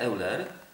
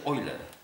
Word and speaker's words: Euler: wiesz co tylko patrz to nazwisko się czyta nie euler bo on był zdaje się szwajcarem czyta się oer Leonard o ile on